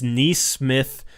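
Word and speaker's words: Nesmith: Joel said, "Is Neesmith the son of Kenny Smith?" That's actually how you say his last name is Neesmith.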